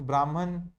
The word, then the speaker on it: Brahman: ब्रह्म एंड आत्मा, इसमें ब्रह्म लिखो पहले, BRAHMAN। इंग्लिश में एन लिखना पड़ता है, साइलेंट हो, ठीक है, डैश करके लिखो, the ultimate comma unchanging reality and the foundation of the universe.